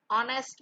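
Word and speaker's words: honest: Are, Apple, Indian, umbrella, ऑनेस्ट मैन, एच is silent.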